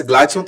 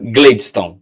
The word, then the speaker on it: Gladiston: Eu nunca acerto o seu nome para falar assim completamente, mas Gladson falei certo, né? Gladston. Tá vendo aí? Mas se escreve, mas se escreve com a É,